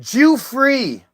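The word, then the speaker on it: Giuffre: It's It's pronounced Jewree. has Jew free has reportedly spent more than $350,000 on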